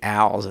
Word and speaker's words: Als: by Hilton Al the he prefers the the pronunciation Al as opposed to also I just thought I'd